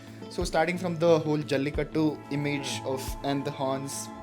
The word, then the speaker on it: Jallikattu: In my opinion, right, starting from Jallikattu. Correct. That is how it's pronounced? Yes, Jallikattu.